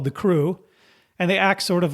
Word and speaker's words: CROO: So the crew, CROO, for whatever reason it's spelled that way, the crew, as the